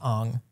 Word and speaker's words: Aang: So to see these actors and be able to be like, yes, that 100% is Katara and that's Aang feels so good. I believe it's pronounced Ong.